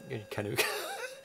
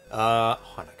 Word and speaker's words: Hanukkah: Kanuka. Try again with that pronunciation. Chanuka? No. Keep going. Chanuka? No. Chanka? Hanukkah. Hanukkah!